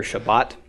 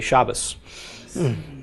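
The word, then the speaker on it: שבת: we say Sabbath okay Jews and Israel save Shabbat in an Orthodox Jews speaking Ashkenazi dialect will say Shabbos okay so here all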